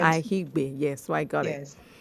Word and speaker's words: Aigbe: It's Aigbe, not Akigbe, Abi? It's Ahigbe. Aki? Is it Ahi? Ahigbe. The K is silent. Ahigbe.